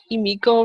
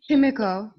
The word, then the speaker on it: Himiko: Am I saying Emiko wrong? It's really fun to say it, but am I saying it wrong? Himiko. Himiko. Himiko. Yeah. Himiko. Okay.